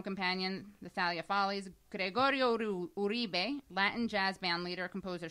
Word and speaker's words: Uribe: Gregorio Uribe, Latin jazz band leader, composer, singer. Invisible Familiars. How you pronounce that again? Uribe.